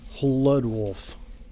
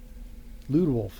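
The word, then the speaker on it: Hludwolf: Lud Wolf. Maybe the H is silent. I can pronounce that. Lud Wolf. Lude Wolf. That's probably it.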